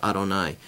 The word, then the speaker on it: Adonai: Yud He Vav He is really pronounced Adonai.